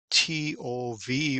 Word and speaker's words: tov: word good which is spelled t o v or pronounced tov we find this word